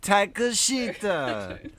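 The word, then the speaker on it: Takeshita: Takashita!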